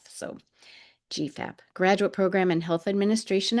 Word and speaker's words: GPHAP: We pronounce it GPHAP. The PH sound is with an F, so GPHAP, graduate program in health administration and policy.